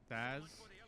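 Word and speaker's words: Sazh: So, Thaz is how you pronounce his name, and Lightning are trying to stop a purge from happening for their own personal reasons.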